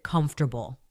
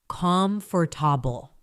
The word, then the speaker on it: comfortable: Or the word comfortable. Many learners say it slowly as comfortable, but in natural speech, it becomes closer to comfortable.